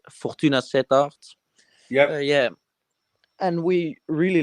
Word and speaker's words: Fortuna Sittard: club is pronounced Fortuna Sittard.